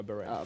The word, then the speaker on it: beret: Yeah, beret.